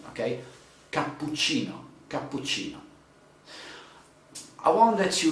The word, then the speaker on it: cappuccino: say let's see cappuccino cappuccino has double p and double c okay puccino okay that would be so in italian you can say cappuccino because cappuccino is like if it's with just one p and one c but double p you're ready to stress it okay okay now i